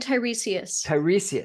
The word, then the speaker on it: Tiresias: Sarah and Tiresias. Tiresias. And you're going to read something from the book about Tiresias for us, if you could.